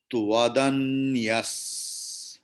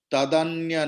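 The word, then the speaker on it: त्वदन्यः: Then Tvadanyas. Tva. Tadanya nahi hai. Tvadanyas. As after Visarga there is Saraswati sakara or Danta sakara. So Visarga's pronunciation will be like Saraswati sakara.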